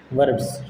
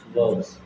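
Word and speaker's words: verbs: है भाई बताओ, वर्ब्स, वर्ब्स, ठीक है। जी अब इसको वर्ब्स नहीं बोलोगे, वर्ब्स बोलोगे, आर इसमें भी साइलेंट रहता है, वर्ब्स, ठीक है।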